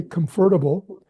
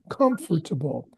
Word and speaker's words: comfortable: United States you're in some people say comfortable which is not the best way to say it but comfort emphasis on the first syllable comfortable conscious I think I